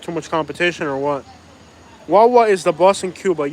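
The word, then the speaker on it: guagua: Wawa is spelled with a G-U-A, Wawa, which means it does mean bus.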